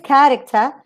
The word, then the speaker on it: character: to think about this character you have to say that this part the k the cat sorry the cat syllable is the strongest and then you have